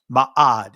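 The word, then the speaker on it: מאד: Maad, it's interesting, right? Because the ancient Hebrew is maad because every letter is pronounced as a syllable.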